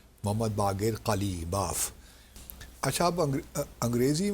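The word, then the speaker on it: Ghalibaf: रहे हैं साहब, उनका नाम है मोहम्मद बाक़िर कालीबाफ। अच्छा, अब अंग्रेज़ी में जो वो कालीबाफ साहब जो स्पेलिंग करते हैं GH गालिब हो जाता है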